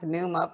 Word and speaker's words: Nyuma: you're saying it perfectly so it's pneuma in Zambia's pneuma here in the United States where I live it becomes pneumo because it's just easier for all the different people um so people say how do you say correctly I said it really just depends on where I am and what's happening right as long as I